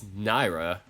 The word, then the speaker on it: Naira: Speaking of June and Nico, has anybody seen I was about to mispronounce her name. It's Naira.